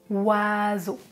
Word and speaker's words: oiseaux: On ne prononce pas le X. Oiseau.